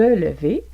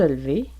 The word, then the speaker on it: lever: exemple, tu vas te lever, vous allez entendre tu vas te lever. Tu vas te lever. Donc, c'est le E de lever qui n'est pas prononcé, qui est muet ici. Tu vas te lever.